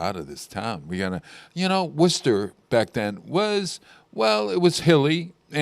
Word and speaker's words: Worcester: The way to spell that name, Worcester, is Worcester. And no one from Massachusetts can say it. They don't say it correctly? No, they look at it and they can't pronounce it right.